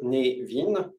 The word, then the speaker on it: Cynefin: près comme ça que névine c'est un peu comme Kevin le prénom Kévin mais avec un nœud